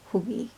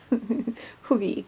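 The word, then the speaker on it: hygge: It's spelt Hagi, but it's Hoogie. Hoogie, comfort, cozy.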